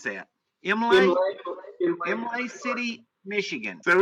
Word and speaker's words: Imlay City: So you buy a note on a property in, how do you pronounce that? Imlay City, Michigan.